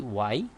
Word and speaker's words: Wye: this is y so we pronounce it we write it like w y e y for pronunciation but this is the